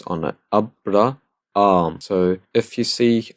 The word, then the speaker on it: Abraham: Abraham. We have two alphas together. So I'm going to pronounce the first one normally like I do.